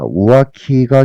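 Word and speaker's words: 浮気: 우아키가 갱인데 와카리타 소데스 우아키에서 발음 조심해 줘야 됩니다. 오아키 키키 세게 발음해 줘야 돼요. 우아기 만약에 연음으로 니고리 땡땡 붙으면은 윗돌이가 됩니다.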